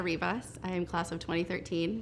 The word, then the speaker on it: Rivas: me your question yes my name is rivas my friends call me and my name is spelled g-r-e-c-i-a-r-i-v-a-s and my class year is 2013.